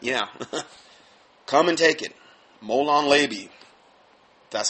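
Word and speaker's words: molon labe: talk about that yeah come and take it molon leby that's how you say it anyway according to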